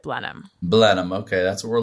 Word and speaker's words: Blenheim: It's spelled like Blenheim, but you pronounce it Blenheim.